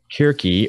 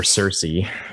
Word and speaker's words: Circe: I am the son of Kirke or Circe, how different people pronounce it ways. Yeah. I will try to use hard C's, but I'm sure I will.